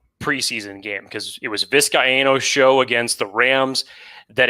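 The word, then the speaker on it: Vizcaíno: of course but tristan viscayano i believe it's four syllables tristan viscayano won the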